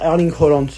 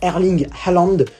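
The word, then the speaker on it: Erling Haaland: l'inarrêtable erling allende oui j'ai arrêté de dire airlink roulante je me suis rendu compte que ce n'était pas la bonne prononciation donc on va dire erling allende erding challandes qui est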